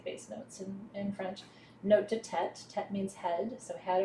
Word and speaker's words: note de tête: Note de tête.